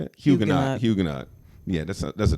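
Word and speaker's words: Huguenot: Hugenot.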